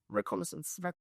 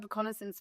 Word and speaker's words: reconnaissance: Reconnaissance. Reconnaissance. So, explain like what does the word reconnaissance? What does it even mean? Security reconnaissance. You said it right. Yeah. No, it's it's reconnaissance. It's a French word.